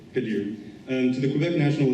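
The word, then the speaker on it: Khadir: first elected Amir kahir I'm sorry can you pronounce that K Kadir um to the Quebec National Assembly in December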